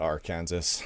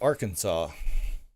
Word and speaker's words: Arkansas: I know it's not Arkansas. It's Arkansas. I used to legitimately call it Arkansas because that's how it's spelt.